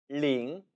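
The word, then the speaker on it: 零: 0, 링, 링. 주의하실 것, 링이 아니라는 거죠. L 발음으로 아주 가볍고 경쾌하게 소리를 내야 한다는 겁니다.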